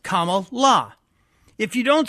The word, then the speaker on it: Kamala: educated to pronounce it, it's comma with a la. So it's a punctuation with a la in the end, Kamala.